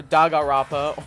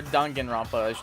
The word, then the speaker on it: Danganronpa: to play some more dagarapa or Danganronpa as I is the correct pronunciation uh yeah we are